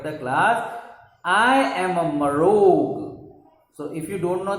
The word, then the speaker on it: Marrog: I am a Marog. So if you don't know the spelling of Marog, you should learn this spelling. M-A-M-R-R-O, Rog. Okay, 3 syllables.